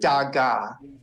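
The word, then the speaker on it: דגה: God so we get Daga nice and again the hay is silent at the end let's try the next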